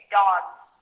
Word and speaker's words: dogs: So we say dogs. You might not hear it, but there's a little bit of a Z sound at the end of that.